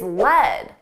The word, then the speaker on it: led: Now, the past simple of the verb lead is led, but the spelling is different.